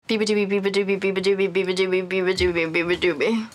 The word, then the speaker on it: Beabadoobee: Beabadoobee. That's how you say it. The worst pronunciation, they somehow put like poop into it and I thought it was on purpose, so I just kind of rated it from them. Or people say I'm Beababoobies, and someone made a sign, Beababoobies!